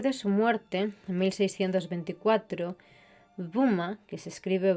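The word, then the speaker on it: Böhme: históricas a partir de su muerte en 1624 vuma que se escribe B boe H me no ha dejado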